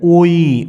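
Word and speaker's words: وِ: ভুল ভুল করে বসে এটি কিন্তু ভুল সঠিক উচ্চারণ হচ্ছে ওয়াও জের উই উই আমরা কিছু দেখানোর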